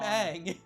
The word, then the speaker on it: Aang: My name's Ong. I'm Aang.